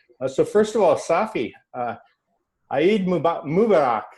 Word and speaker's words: Eid Mubarak: So first of all, Safi, Eid Mubarak. How do you say this right? Eid Mubarak.